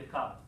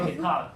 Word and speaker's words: Descartes: We say Descartes in Hebrew. Descartes. Yeah. Descartes. Yeah. Descartes. And the way you write it down has nothing to do with the way you pronounce it, so I'm not going to write it down. Yes. So Yeah. how do you pronounce it in English? It's Descartes. It's the same way.